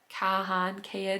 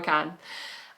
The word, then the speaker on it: Kahan: Kahan? I would say Kane, but it's not how you say it. Noah Kahan.